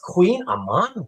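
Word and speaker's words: Kouign-amann: It's It's pronounced Queen Aman.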